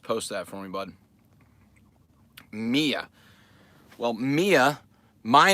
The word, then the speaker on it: Mia: apologize your kiddo Mia are you pronouncing it Mia or Miah Miah Miah it's like who is